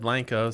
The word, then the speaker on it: Blanco: chamber of commerce and they said blanco so yeah yes the official name is blanco texas and brookshire okay